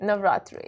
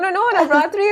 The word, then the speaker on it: Navratri: Am I saying it right? Navratri? Navratri. You got it.